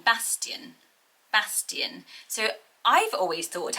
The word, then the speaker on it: Bastian: to play and next up is the name bastian bastian so i've always thought actually that it